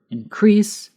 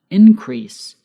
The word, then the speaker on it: increase: increase noun an increase there's a difference in pronunciation between the verb increase and the noun increase notice how the x end is on different syllables depending on whether we are giving the noun or the verb we will see more